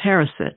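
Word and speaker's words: haroset: new life or the resurrection and then there's harrison h-a-r-o-s-e-t which is a mixture of apples dates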